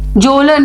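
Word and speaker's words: Kjølen: यहाँ पे एक हो गया, यहाँ पे है this Kola peninsula was there, जोलन mountains, KJOLEN, यहाँ पे लिख लो आप, इसके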